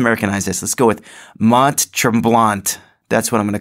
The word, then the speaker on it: Mont Tremblant: blong macho mom so someone told me that I pronounce Mont Tremblant wrong and you know that I don't I don't pronounce the last T which would be true blah and like that's what though isn't that like the French just like they take